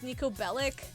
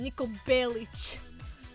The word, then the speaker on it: Niko Bellic: 4 or 5 with Niko Bellic? I'm sorry, let me fix his name, Niko Belic. That's how his name should have been pronounced, but nobody gave a shit.